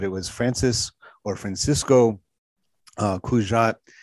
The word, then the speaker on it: Cugat: It was, you know, like I said, it was Francisco Cugat. I'm sure I'm not saying it right. He's Spanish, so I'm making that the G sound not quite a hard G the same way.